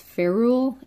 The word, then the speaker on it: ferrule: And then this part here, I'm not sure exactly how it's pronounced because I've only ever seen it written, but I think it's ferrule, F-E-R-R-U-L-E.